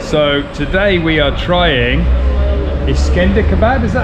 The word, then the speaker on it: İskender: So today we are trying İskender kebab, is that how you say it?